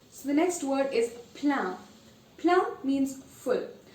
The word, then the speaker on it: plein: So the next word is plein. Plein means full. Now you see that the spelling is E-I-N. Even though it's E-I-N, it's not pronounced any differently. I-N is pronounced as un. So it is plein.